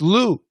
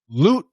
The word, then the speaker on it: loot: the word loot yeah it's a stop t it doesn't yes so we talked about this earlier today boot the stop t it doesn't disappear if it disappears it's lou lou it's not lou it's loot loot and perfect pronunciation loot